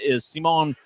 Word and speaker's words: Simon: Racing after it and getting there before a Grizzly is Simon Pinard, and he'll dump it in. His name is spelled S-I-M-O-N. It's tough to not say Simon.